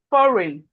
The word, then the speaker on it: foreign: The G. So when you are pronounced, don't try and say G or don't say the G because it's silent. So you Okay.